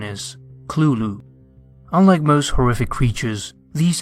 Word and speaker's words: Cthulhu: pronounce it however Lovecraft wrote that the closest pronunciation is clulu unlike most horrific creatures these entities do not